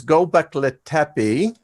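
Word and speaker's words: Göbekli Tepe: the diggings now and I will get this pronounced correctly it is gobekli tepe that we were hit by a comet they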